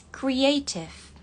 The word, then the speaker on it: creative: Kalau di British, creative. Creative. T-nya tetap dibaca T.